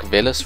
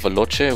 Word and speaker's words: Velos: Black Invader, Black Stern, Black Spider, Black Ohm, and Black Velos wheels. I found out they pronounced Velos instead of Veloce, which is kind of disappointing. I think Veloce sounds a lot cooler than Velos.